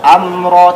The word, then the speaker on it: amra: Falmudabbirati am ti amra, jelas amra tidak dipantulkan. Ingat, mim bukan huruf qalqalah, maka tidak dipantulkan. Am tidak seperti itu, am tahan amra.